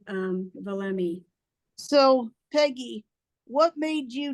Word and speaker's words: Valemee: right now we are the way we pronounce our name is VMI VMI it's hard to say something times but VMI stands for Value me Empower me and that's why uh